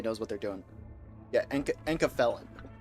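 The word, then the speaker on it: Enkephalin: Yeah, Encafelin. Encafelin. You gotta say it like a drug.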